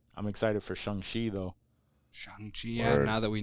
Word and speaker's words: Shang-Chi: Shang-Chi, yeah, Word. now that we know how to pronounce it.